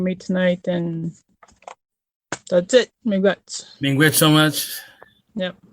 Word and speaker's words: miigwech: Miigwech.